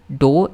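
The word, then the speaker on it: dough: उसको शॉक लगा एंड uh reluctantly begin to beat the डो in perfect डी ओ यू जी एच का pronunciation देख लूं जरा मैं डी ओ यू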